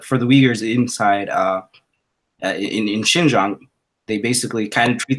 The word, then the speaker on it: Xinjiang: How do you pronounce it again? Xinjiang.